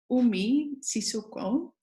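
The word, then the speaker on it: Umi Sissoko: to move to the last speaker of today Oh me Sissoko I hope I pronounced your name correctly yes okay Umi is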